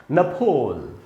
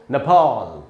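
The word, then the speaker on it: Nepal: British English में दोस्तों इसका उच्चारण होता है नफोल। अब थोड़ी सी हैरानी होगी आपको, नफोल ये ब्रिटिश इंग्लिश है। अमेरिका ने बोलेंगे दोस्तों नेपाल, नेपाल। तो नफोल ये ब्रिटिश है, नेपाल ये अमेरिकन है।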